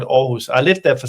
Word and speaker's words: Aarhus: You can spell it with a double A, so for what it will be Aarhus. But it's called Aarhus.